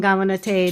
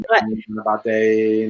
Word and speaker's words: Ganapataye: It's Om Gam Gamanate Namaha. I screwed up this. Om Gam Ganapataye Namaha.